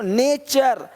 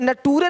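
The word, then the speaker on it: nature: question नहीं question question देखो नेचर यहां पे टूरे नहीं बोलते टूरे नहीं नेचर है ना यहां पे देखिए क्या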